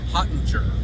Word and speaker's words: Hottinger: Hottinger.